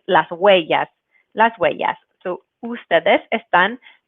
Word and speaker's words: huellas: word of huellas, that you're going to not pronounce the H, the H is always a silent letter, so make sure you don't pronounce that. So it's not huellas, but huellas, and then keeping in mind that double L is going to make the Y sound. So that's how we get the pronunciation huellas.